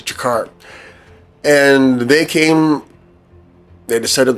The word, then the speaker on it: Tjeker: of yes C peoples these are called the jakar it's t j e k r and the pronunciation is jakar and they came they